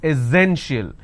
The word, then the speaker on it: essential: Now you see this word, it's not essential, it's essential. So instead of s sound, we have a z sound here.